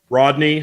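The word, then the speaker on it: Rhodney: really and say his name one more time Rodney Honeycutt Rodney Honeycutt that's Blake's son but the Rodney is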